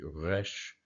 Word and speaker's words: resh: Also a note about the resh, or the resh, or the resh. There's 3 ways to pronounce it, the R sound. The guttural way, the resh, is often pronounced in Israel that way, Israeli speakers, or Arabic speakers. Also could be pronounced with the Spanish trill, the resh, or with the just regular Western sound of the R.